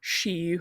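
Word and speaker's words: sidhe: land and that's the the word she which is spelled s d h e it's often referring to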